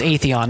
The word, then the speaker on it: Atheon: The stupid pronunciation. It's Atheon.